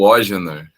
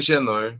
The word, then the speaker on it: Ogenor: É o Ogenor. O Ógenor. Ou Genor, para facilitar também, mas é o Ogenor, pode chamar de Ogenor.